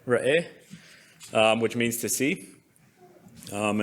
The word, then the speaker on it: Re'eh: Ra'eh, which means to see.